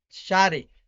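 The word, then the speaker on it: شارع: We have street, which is pronounced Shari.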